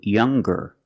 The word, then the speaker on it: younger: or with est EST we're going to pronounce the G sound the hard G so it's younger G with a G sound stronger the youngest again